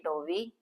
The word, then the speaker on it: dovi: Not Dovi. Is it Dovi? Dovi. Dovi. Dovi. That's what you are saying, and also that's what I'm pronouncing. You're saying do. Do. So do. There's an H. Do. It's Dovi. Dovi.